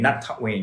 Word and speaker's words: Nattawin: with his first name not talk Wayne you know so not with the high tone okay top with the